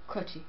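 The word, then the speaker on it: Croce: Anyway, um, is it pronounced Croaki? Crochi.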